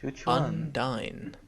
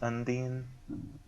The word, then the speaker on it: Undine: Undy. Actually, it's pronounced undine.